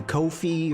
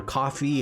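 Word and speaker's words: Ko-fi: going to move to Kofi or coffee however you want to pronounce it patreon whatever any of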